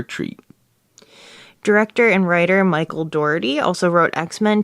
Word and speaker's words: Dougherty: How would you pronounce his name? Dougherty? Dougherty. Oh, it's good you went first. I was gonna say, like, Dougherty or Doferty. It's Dougherty.